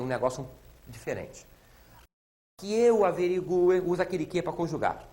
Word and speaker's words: averigue: então Ó que eu averigue e não que eu averigue que eu averigue que tu averigues que ele averigue que vocês notaram o u é pronunciado porém é tônico é tônico eu sou obrigado a botar